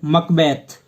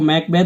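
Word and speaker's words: Macbeth: जैसे इसकी जो प्रसिद्ध ट्रेजेडीज है वो कौन सी students, Hamlet, Othello, King Lear और मकबैथ, जिसको मैकबैथ भी पढ़ते हैं कई, लेकिन इसका सही उच्चारण मकबैथ होता है।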